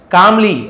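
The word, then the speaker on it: calmly: ठीक है, बुद्धा स्माइल, भगवान बुद्ध मुस्कुराए, कामली, एल साइलेंट है, हर बार ये शब्द आ ही जाता है, कालमली नहीं बोलेंगे, कामली, शांति से, एंड सेड,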